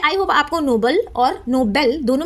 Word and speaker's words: Nobel: तो जो नीचे वाला है नो बेल इसमें जो बेल है इस पे हमें स्ट्रेस डाल रहे हैं।